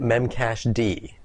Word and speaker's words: memcached: this episode we're going to be looking at memcache d and that is right that's how it's pronounced memcached evolved out of the live journal